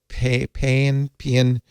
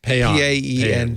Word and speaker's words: paean: How do you pronounce that? Paean to Elon. Paean.